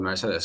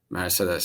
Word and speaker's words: Mercedes: In German, it's called Mercedes. So, I'm not making it up. It's not even Turkish. That's how Germans say it. Mercedes.